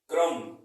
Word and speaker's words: CRUMB: ठीक है, लिखते हैं फोर्थ हमारा लिखा है CRUMB, क्रम। क्या लिखा है? क्रम। बट इसको सही तरीके से कैसे पढ़ेंगे? इसमें बी साइलेंट है।